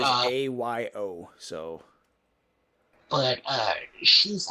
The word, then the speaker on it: Ayo: Is that how you pronounce it? I thought it was Io. Ao. It might be Io. I don't know how to pronounce it either. I know it is Ayo.